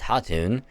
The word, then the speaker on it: Khatun: Alright, because in this, the K is silent. So it's not Khatun, it's Hatun.